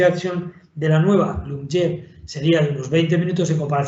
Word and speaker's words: Lyumjev: Se llama, bueno, el nombre es un poco impronunciable tal y como viene, es Lyumjev sería teóricamente, pero bueno, parece que la lectura que hacen los ingleses es Lyumjev.